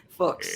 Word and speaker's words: Fuchs: It rhymes with books. That's how I remember. I always wondered how you pronounced it. Fuchs.